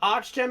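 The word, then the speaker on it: Archgem: go through that uh arch gem is spelled a r c h g e m b which is simply just arch like a bridge arch and a gem okay thank you i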